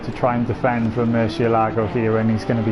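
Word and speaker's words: Murciélago: Then we've got how would we pronounce that? Murcielago? Murcielago, that's it.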